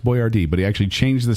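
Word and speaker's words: Boiardi: a Tor B oi a r di it's pronounced boy Rd but he actually changed the spelling to boy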